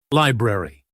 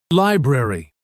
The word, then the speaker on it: library: Library. Library.